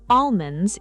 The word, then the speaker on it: almond: So almond and salmon both hide the letter L.